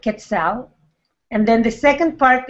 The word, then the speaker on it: Quetzal: You say Kalpuli, Kalpuli, and then the next part, you can break it into parts, and it's Quetzal, like the bird, Quetzal.